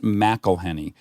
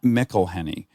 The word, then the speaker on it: McElhenney: It's pronounced McElhenney, not McElhenney. It's a tricky one, but for future reference, when dealing with a Scottish or Irish person, MC followed by a vowel is Mac.